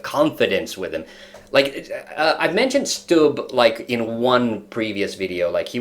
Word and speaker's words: Stubb: It's Alexander Stubb. That's how you pronounce it.